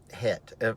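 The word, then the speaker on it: חטא: the word sin is het uh hit of course in the hebraic phonics it is c-h-e-t uh but the c is silent hit and hit means this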